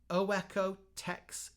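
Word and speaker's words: OEKO-TEX: high quality carpet I'm gonna try and pronounced this correctly oweco Tex carpeting o e k o Tex carpeting and then this is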